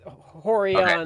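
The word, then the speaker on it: Rorion: with an R like Brazilians pronounce r as H so at the beginning of a word yes and it's horon that actually was my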